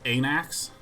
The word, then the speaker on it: Anax: It is certainly pronounced Anax.